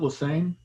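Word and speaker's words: Lesesne: I pronounce it Lesane.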